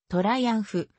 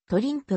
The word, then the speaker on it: Triumph: を取り扱っているトライアンフは英語の発音ではトライアンフドイツ語の発音では取りうん札が日本語での表記としてはトリンプ自身が称しているトリンプが正式なものである 1886 年 johann gottfried